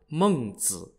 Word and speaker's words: Mengzi: Mencius's birth name was Meng Ke, M-E-N-G-K-E, and Mencius is just an English way of pronouncing his honorific title, Mengzi, spelt M-E-N-G-Z-I, which literally means Master Meng.